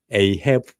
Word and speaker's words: Ahab: 아합이라는 사람이 나옵니다. 에이헵 라고 나옵니다. 영어 발음으로는요.